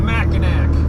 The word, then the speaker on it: Mackinac: come on over and check it out the macac pronounced ma like Tim mcra didn't see